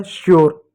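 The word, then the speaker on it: sure: उसी प्रकार एक और शब्द है एस यू आर ई, यू आर ई है तो आधा स हो जाएगा, यू का यो लिख देंगे, आर का र लिख देंगे, ई साइलेंट होगा, हो जाएगा श्योर।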